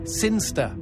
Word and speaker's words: Sinchester: It's pronounced Sinster.